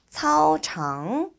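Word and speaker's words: 操场: 우리 차오장이라고 하는데 차오 요 발음하실 때 CAO지만 KAO랑 간혹 헷갈리는 경우가 있으신 것 같아요.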